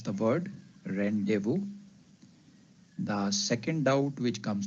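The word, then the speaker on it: rendezvous: how do we pronounce it the word is pronounced as randevu so this is how we pronounce the word rendevu the second doubt which comes to our mind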